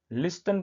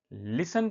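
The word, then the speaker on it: listen: एस टी ई एन इसे बहुत से बच्चे लिसन पढ़ते हैं जो कि गलत है। इसे लिसन पढ़ना चाहिए। कहने का मतलब यह कि इस वर्ड में टी साइलेंट होता है। यानी कि इस वर्ड को पढ़ते समय टी नहीं बोला जाता है।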